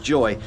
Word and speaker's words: YOY: the opening day of Joy. Now, I know it's spelt YOY, we might make that mistake a few times, but apparently even the Dutch hate the name, so YOY, Joy, we're here.